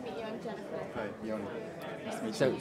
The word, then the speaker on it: Yoni: Hi, Yoni. Nice to meet you. So you pronounce it Yoni. Yoni, yeah. Yoni. Okay. It's spelled Y-A-N-I, right? Y-O. It's an O. it's Y-O. Yoni. Yeah, Yanni is Greek.